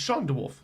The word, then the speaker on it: Sean DeWolf: Or is it Sean DeWolf? It's Sean DeWolf.